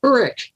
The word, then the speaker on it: Uruk: You wrote, "I also had my priest Uruk." Am I pronouncing that correctly? It's Uruk. Uruk.